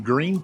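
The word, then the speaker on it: Gruene: there's a dance hall in green Texas which green is spelled gu e something we'll put it down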